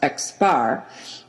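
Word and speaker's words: x̄: total number of subjects the symbol x with a line above it pronounced x bar is used in research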